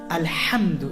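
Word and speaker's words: الحمد: They know that the letter ha is pronounced from the middle of the throat. Alhamdu is the word.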